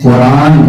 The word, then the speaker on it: قرآن: اب آپ سے عرض یہ ہے کہ قرآن یعنی زبان کے وزن پر قرآن کا یہ تلفظ، یہ سورت پہلی صدی ہجری سے عربی زبان میں موجود ہے.